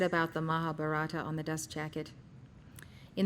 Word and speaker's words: Mahabharata: Mahabharata is spelled M-A-H-A, B-H-A-R-A-T-A.